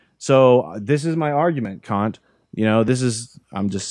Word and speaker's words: Kant: So this is my argument, Kant. I'm just saying that polite in case there's kids at home, because his name's pronounced Kant, and it's Hegel.